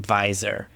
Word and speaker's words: Visor: And funny story about the name Visor. Um so it's Visor, v i s o r, but I I wanted that to be how you pronounce VSR, which is view stamp replication.